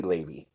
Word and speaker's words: Lave Cross: I pronounce it Lave Cross, but it could be Levy. Okay. So who do you have for this role? Okay, so as I talked about, Levy Cross was the one that